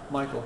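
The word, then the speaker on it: Maichel: Nathaniel, M-A-I-C-H-E-L, how's it pronounced? Michael, okay.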